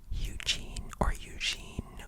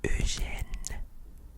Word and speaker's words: Eugène: Okay, it's not Eugene or anything like that. The actual pronunciation for this is Eugène. Okay, so repeat after me. Eugène. Okay, so the first part is it's like the word p, you know. P is the word for small or little bit.